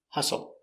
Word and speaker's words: hustle: to win the game pronunciation hustle uh H relax closed sound h-h s h h h h h o hustle hustle stress on the first syllable H H hustle hustle